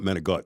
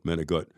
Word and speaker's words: manicotti: and they fed them manicotti. And they call it manigot. That's how you pronounce it, manigot.